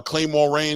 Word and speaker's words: Claymore Rain: Claymore Rain. It's the way it's spelled, Claymore. Rain, like the water outside.